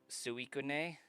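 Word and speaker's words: Suicune: So, I think regardless of how Pokedex says to pronounce it or the anime, it's uh Suikun. I think that would be like the more logical pronunciation of it.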